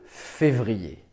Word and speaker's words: février: niveau de la langue attention à la prononciation on dit le mois de février on ne dit pas